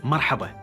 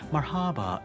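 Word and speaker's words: مرحبا: But I really would like it if you could try to say marhaba, because I know someone out there is going to be like, marhaba. No, marhaba. That's how we say it.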